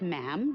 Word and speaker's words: ma'am: For instance, when you're addressing the Queen, she is Her Majesty, and after that, it's just ma'am, rhymes with jam, and it's always a curtsy, especially in public.